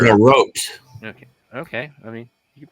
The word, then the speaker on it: garrote: The Garrett wire. That piano It's wire. a garrote.